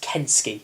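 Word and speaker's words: Kensuke: called i'll actually know it's not pronounced consue he's it's kensky that's it kensky's kingdom yeah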